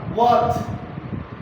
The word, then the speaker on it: worth: वैसे एक्चुअल अगर तो इसको हम सही तरीके से बोले तो आर साइलेंट रहेगा, वर्थ।